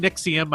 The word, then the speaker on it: NXIVM: However you want to pronounce that. We're saying Nixium.